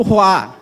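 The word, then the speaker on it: רוּחַ: Eu já falei para vocês uma certa vez que o sopro ali em hebraico se pronuncia pro roá, que quer dizer hálito, vento ou aspirar ou até mesmo, né?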